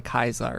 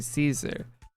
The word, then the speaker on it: Caesar: So everyone in like the Caesar's Legion, they would say Kaiser, right? And then any of the NCR you would come across in the game, they'd all say Caesar. And the pronunciation, depending on the allegiances of the person, would change.